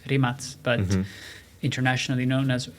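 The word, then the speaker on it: Rimac: materimates i think in in their language it's pronounced rimaz but internationally known as rimak guy a bit my age or a bit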